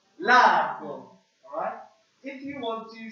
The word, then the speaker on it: largo: The first one we have is, who would like to try and pronounce that first one for me? Largo. Let's say that together. 1, 2, 3. Largo.